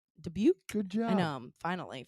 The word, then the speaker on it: Dubuque: Dubuque?